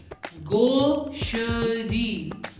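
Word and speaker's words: gaucherie: इनके correct pronunciation के लिए गोश्त में से त निकाल दो। गोश, गोश, गोशरी, गोशरी, गोशरी।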